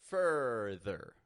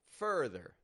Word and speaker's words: further: farther that's too exaggerated instead I'm keeping my teeth very close together fur fur further further further this is that schw R sound something that we explored